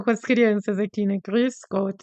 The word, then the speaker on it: Grüß Gott: E aí eu brinco com as crianças aqui, né, Grüß Gott, tem ó, o tem que fazer biquinho mesmo, é engraçado, parece um emoji de sorriso aqui, né.